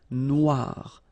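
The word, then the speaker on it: noire: And then o e remember wa noir noir la noir.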